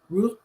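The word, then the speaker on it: ruh: for his own breath and he uses Raw it's spelled r-u-h raw Rue for his own soul and these are the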